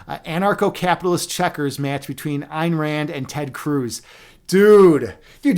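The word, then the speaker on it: Ayn Rand: By the way, I pronounce your name Einrand, which is actually the way you should pronounce it. Everyone else pronounces it Anrand, but technically we're supposed to pronounce it in Einrand.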